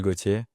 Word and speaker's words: Gautier: So, my name is Goier and I'm from France.